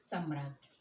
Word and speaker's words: सम्राज्ञी: सम्राट का सम्राज्ञी, ये इसका उच्चारण होता है। सा, माँ में बड़े आ की डंडा, यहाँ नीचे ये देखिए बड़े आ की मात्रा लगी हुई है और माँ पर रेफ का चिन्ह है, और ज्ञा में बड़ी